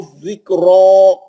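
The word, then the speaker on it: ذكرى: व अन्ना लहु ज़िक्रा, ज़िक्रा, रा पे जबर नहीं है, खड़ा जबर है ना, जबर हो या खड़ा जबर हो, मोटा पढ़ेंगे, 2 रकब भी करेंगे। या साइलेंट है, वो नहीं पढ़ी जाएगी, गिर जाएगी वो।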